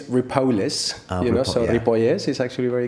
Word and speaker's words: Ripolles: Tell me if I'm going to pronounce this right. Is it Ripolles?